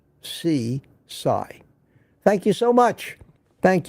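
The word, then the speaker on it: Sisay: Spelled S-I-S-A-Y, but pronounced C-Sai.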